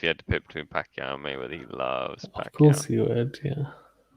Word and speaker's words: Pacquiao: say it mate manny you don't say pacquiao it's uh it's pacquiao it's the pacman what's he